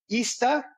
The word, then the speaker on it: Izta: It's called Ista, which is IZTA, and then apparel.